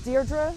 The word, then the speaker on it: Deirdre: My first name is Deirdre, D as in David, E-I-R-D-R-E.